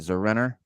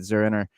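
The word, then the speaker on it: Zur-En-Arrh: I guess that's how you say it, Zurenar. Zenora. It's not Zenara. It's Zerenor. It's Zurenar. So it's basically he's saying Zurenar, but the way he spells it, it's Zur-N-R, Zurenar. Okay.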